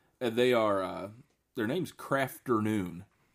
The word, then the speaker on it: Krafternoon: And they are their name's Krafternoon. Get it? Afternoon. But it's spelled with a K.